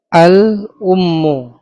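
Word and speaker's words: الأم: Al ummu. Ya, ini pakai Hamzah. Pakai Hamzah artinya ibu ya, ibu.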